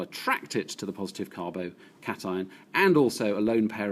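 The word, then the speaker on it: carbocation: cation which you can see written there to pronounce carbo cation cation generally meaning positive iron and here on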